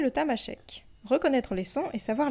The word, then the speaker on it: Tamasheq: En tamashek, on prononce tamashek, temashek. Et pourtant, il est partout écrit tamashek.